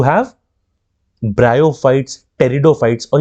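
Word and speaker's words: pteridophyte: तो थैलोफाइट हो गया, ठीक, और क्या होगा टेरिडोफाइट, इसमें पी साइलेंट होता है, टेरिडोफाइट, ठीक।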